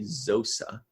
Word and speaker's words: Xosa: It's spelled Xosa, Zosa.